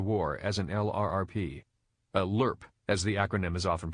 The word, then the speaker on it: LRRP: missions of the war as an LRRP a lerp as the acronym is often pronounced which stands for long-range reconnaissance patrol was